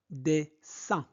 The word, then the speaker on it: dessin: De leur dessin. I-N se prononce un. Donc, dessin animé. Et n'oubliez pas la liaison. Donc, dessins animés préférés, dessins animés